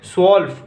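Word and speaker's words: zwölf: स्वॉल्फ। इसमें भी तय साइलेंट होता है।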